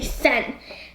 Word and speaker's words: Sen: into sent right only sen that sen that's only one syllable Chihiro descent that's terrible it sounds like sin which you know sin